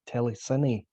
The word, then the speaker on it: Telecine: Well, Ruptured Telecine has been mispronounced by a few people. It's actually Ruptured Telecine. I should have put the accent on the E, I guess.